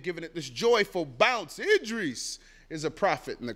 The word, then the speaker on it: Idris: I call myself Idris.